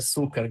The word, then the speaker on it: Succar: Falou certo, é Succar, Succar.